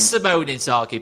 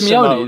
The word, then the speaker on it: Inzaghi: It is Simone Inzaghi, by the way, Hal. Not pronounced Simeone, isn't it?